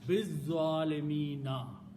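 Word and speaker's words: بِالظَّالِمِينَ: So, and then when you pronounce, you don't pronounce this al, you pronounce bizzalimina.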